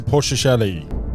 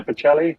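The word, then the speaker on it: Bocelli: a track Andrea pelli pili pelli Steve how do you pronounce his name pelli isn't it Andrea pachelli pachelli Andrea pachelli thank you mate pelli have you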